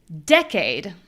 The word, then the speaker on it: decade: Okay, and then changing nothing with the sounds, we're only going to change the stress. We have decayed, decayed. So we're using our tools to make the syllable that is strong sound strong. All right, continuing to the next.